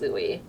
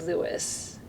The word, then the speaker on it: Louis: last name as Louie pronouncing it as Louie versus Lewis but then it felt strange because my entire family identifies themselves as Lewis so I went back